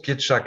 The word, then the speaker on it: Pietrzak: Hein, alors, ton nom se prononce Pietschak, hein, je le dis parce Ah, que tout à fait.